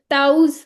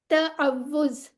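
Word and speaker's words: تعوذ: तावुज माशा्लाह अल्हम्दुलिल्लाह ठीक है और हम बचपन से इसे क्या पढ़ते होते थे ताऊज पढ़ते होते थे है ना तो असल में ये क्या है तव्वज अगर इसके आप स्पेलिंग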